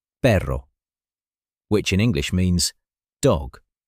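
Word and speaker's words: perro: For example, the letter R in Spanish, the R is lighter and more rolled, like pero, which in English means dog, compared to pero, which in English means but.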